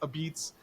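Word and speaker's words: apizza: it's it's spelled out a pizza but it's pronounced a beats Pizza festival and that's on September 11th in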